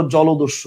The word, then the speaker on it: জলদস্যু: মানে অ নাই কিন্তু যখনই জলের সাথে তোমরা ভাই দশ্যু লাগাও তখন চিন্তা করো তো তুমি কি উচ্চারণ করো জলদস্যু না জলদস্যু বলো তুমি কি উচ্চারণ করো জলদস্যু না জলদস্যু তুমি উচ্চারণ করো জলদস্যু তাহলে ওকার আছে কনসেপ্টটা কি ক্লিয়ার তাহলে